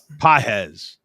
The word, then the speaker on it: Pages: And it's Ohtani, Betts, do you say Pages or Pages? Pages. The Spanish pronunciation.